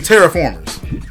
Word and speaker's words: Terraformers: to Transformers all right now the way it looks like it's spelled it's it's spelled Terror from Mars yeah but if you think about it terraformers and Tara and Latin means Earth indeed and of course we all